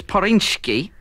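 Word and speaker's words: Zpyrswcki: Yeah, it's Poryński. Oh, my God. Poryński. They're the people who make it. I'll just spell that, then. Z? Z? I thought you said P. No, it's a silent Z.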